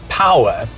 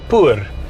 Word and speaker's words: POER: known as the p-o-e-r which gwm says is pronounced power but it's a bit of a problem in south africa because p-o-e-r we would pronounce it poor and that is not